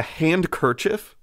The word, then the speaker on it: handkerchief: then just watch do you know it's a hand kerchief yes it's spelled hand kerchief i know but it's a